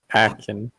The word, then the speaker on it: Ackyn: It's spelled weird, so I'm going to spell it for you. ACKYN. Wait, fuck! I don't. Akin.